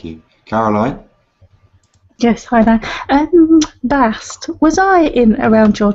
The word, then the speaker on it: Bast: Bast. That is the feminine pronunciation.